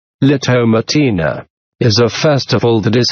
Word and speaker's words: La Tomatina: nvk festivals the Tomatina Spanish pronunciation opening square bracket lotto matina is a festival that